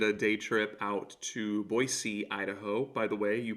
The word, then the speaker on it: Boise: ago I did a day trip out to boyy Idaho by the way you pronounce it boyy not Boise I didn't know that until I was in